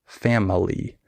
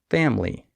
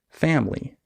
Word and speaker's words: family: skipped syllables for example in the word family the I is silent we don't say family we say family that's something that a